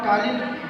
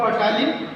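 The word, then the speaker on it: ptyalin: Formation होगा, जिसको हम टालिन हार्मोन कहेंगे या टालिन एंजाइम कहेंगे, जो कि पी साइलेंट होता है, उसको आप पटालिन नहीं बोलिएगा, उसको टालिन बोलिएगा।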